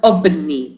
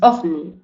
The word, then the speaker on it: ovni: dudas de acuerdo porque tenemos que pronunciar bien el fonema y el fonema no es obni es ovni Entonces al eh al visualizar la palabra ovni tenemos que eh interiormente decir esa palabra con el sonido v y no B entonces esa excepción de